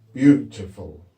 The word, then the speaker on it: beautiful: a you bow but it's pronounced you isn't it which makes it tricky beautiful a UTI and perhaps